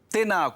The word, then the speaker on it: tēnā: Tēnā koe. Notice that there's a macron on the a and a of the word tēnā. Remember to make those vowels nice and long.